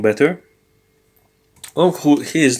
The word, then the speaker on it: ho: Yes, notice that, please take note that the H is silent. O, Yeah, it's not ho, it's o.